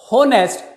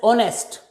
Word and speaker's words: honest: never spoken as honest if you speak it pronounce it like honest then you will never be able to fill in the correct article that's why it is pronounced as honest initial sound is o this is a verbal